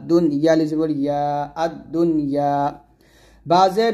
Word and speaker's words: الدنيا: ওয়ালাকাদ যায়্যান্না السماء الدنيا আদ-দুনি নুন যে উচ্চারণ করবেন না আদ-দুনিয়া ক্লিয়ার উচ্চারণ করবেন আদ-দুনিয়া বিমাসাবিহা বি এক